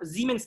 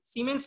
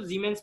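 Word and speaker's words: Siemens: पर ओम को मोह भी कहते हैं, ठीक है ना, या जीमेंस कहते हैं, जीमेंस, सीमेंस नहीं पढ़ेंगे इसको, जीमेंस पढ़ेंगे, इट इज a German word, ठीक है ना, जेड से प्रोनाउंस करेंगे जीमेंस, एंड इट is denoted as एस, ठीक है।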